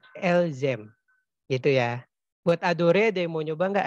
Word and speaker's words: adore: Jedore, tu dore, il, el, ang adore, nu adorang, fu adores, il, el adoren. Ya, oke. Aku bantu benerin ya. E-nya nggak usah dibaca Nova. Jadi ntar kita bacanya jadi jador, tu ador, il el ong ador.